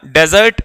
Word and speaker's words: dessert: डेजर्ट। डेजर्ट भी इसका synonym होता है। डेजर्ट की एक और स्पेलिंग होती है DESSERT। इसको डेजर्ट कहते हैं पर इसको डिजर्ट कहते हैं।